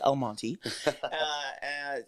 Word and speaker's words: El Monte: Let me say it correctly, El Monte.